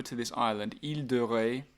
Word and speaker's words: Ré: But then take the car or the scooter over to this island, Ile de Ré, so Ré, R-E, with an accent on the E.